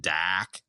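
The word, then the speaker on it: Darhk: He's like, "Can we pronounce it Dak?"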